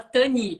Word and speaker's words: Tanit: O meu nome, que se escreve com T no fim, fala sem o T. Então fala Tani.